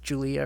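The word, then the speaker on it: Giulia: name is um yeah who it's spelled g-i-u-l-i-a but it's julia or julia and um yeah she's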